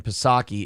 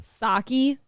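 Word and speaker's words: Psaki: by the way the p in pasaki is Silent not no I can't I've been wrong for too long sake it's Jen pasaki I've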